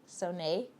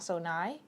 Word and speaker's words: Sohnai: Sohnai, not Sohnai.